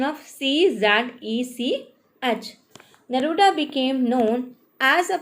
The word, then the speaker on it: Czech: Yes, Czech is the pronunciation of Czech.